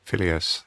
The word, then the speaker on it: Phileas: Phileas. Yeah. Phileas. No one knows how it's pronounced.